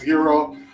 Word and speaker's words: gyro: i love a good hero um i know it's about gyro but it's actually pronounced hero um it comes from